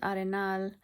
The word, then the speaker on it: Arenal: I've been to but Arnol which is pronounced Arinal.